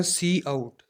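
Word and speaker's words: cout: pronunciation की बात करेंगे इसको प्रोनाउंस कैसे करते हैं तो उसको कहते हैं सी आउट सी आउट इसकी प्रोनंसिएशन ये है तो सी आउट का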